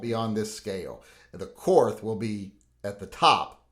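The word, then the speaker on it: Korth: right next we have cor guns or Court as some people like to say but I say we won the war so we get to decide how things are pronounced and this is the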